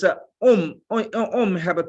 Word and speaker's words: Om: And if you go to deeper than that, Om alone is have a 3 syllable, Auma.